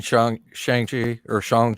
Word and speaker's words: Shang-Chi: about so you actually seen Shang-Chi or however you Yeah, pronounce it? yeah, it is pronounced Shang Chi because Shang-Chi.